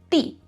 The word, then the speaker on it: 地: The other pronunciation is 地, fourth tone, meaning land.